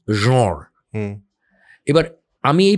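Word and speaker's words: genre: যে মোবাইলে আপনি দেখুন এই ওয়ার্ডটার French pronunciation key, the pronunciation is জঁর।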